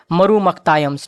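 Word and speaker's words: Marumakkathayam: है यानी कि मैट्रिलिनियल किनशिप सिस्टम है, इसको मरु मख्तायंस बोलते हैं। मैं स्पेलिंग बोल देता हूँ, MARUMAKKATAYAMS, मरु मख्तायम्स, ठीक है, मरु मख्तायम्स इनके मैट्रिलिनियल कल्चर को बोला जाता है।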